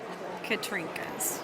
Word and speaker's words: Katrinkas: you what is your professional frame adorning name katrinkas katrinkas would you spell that for are are illiterate people such as